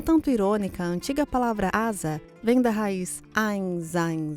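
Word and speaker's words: עזה: Meu nome é e a palavra hebraica de hoje é Asa, que é pronunciada na maioria dos idiomas Gaza.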